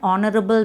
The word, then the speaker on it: honorable: An honorable man. H silent letter.